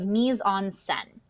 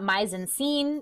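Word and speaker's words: mise-en-scène: this a concept of misonsen so that is how you pronounce this say it out loud mison sen it is not maison scene it is not meis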